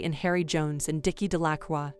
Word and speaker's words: Delacroix: harry jones and dicky delacroix the villagers pronounced this name de la croix eventually made a great